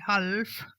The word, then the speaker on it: half: Y este es uno de esos casos, porque la palabra mitad en inglés se escribe H-A-L-F, pero se pronuncia sin la L. Entonces, en lugar de half, vas a decir half.